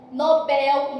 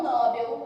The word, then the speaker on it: Nobel: Assim como condor, harém, Nobel e não Nobel, beleza?